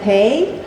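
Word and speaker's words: Pei: Last name is P EI, pronounced like pay.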